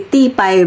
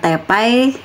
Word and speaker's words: te pai: kebiasaan di keluarga masing-masing kata tepai ini juga sering dicampur-campur dengan istilah Inggris jadi tipai bacanya gitu Ya Ti ya teh juga gitu kan artinya ya sebenarnya sama aja cuman kalau saya bilangnya kalau emang aslinya tepai ya Kenapa harus jadi tipai jadi chinlish China English gitu tepai